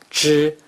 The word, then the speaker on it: 隻: 枝 is the first tone.